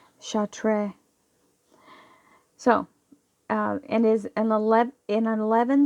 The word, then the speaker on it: Chartres: like short RIS but I think the S is silent in France because it is you know how shall tray so and is an